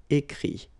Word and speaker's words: écrit: IRE here, it, but then phonetically it's i as well because you don't pronounce the final t, okay. Écrire, écrit.